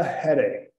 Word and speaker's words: headache: Outra frase interessante, I have a headache. I have a headache. Então, tenho dor de cabeça. Okay? Tenho dor de cabeça. I have a headache. E temos dois H's que temos que os pronunciar.